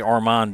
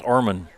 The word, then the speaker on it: Orman: I always say Armand. They say it's Orman.